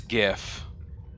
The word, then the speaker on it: GIF: Basically G only has a sound when it's beginning or end. So it is GIF.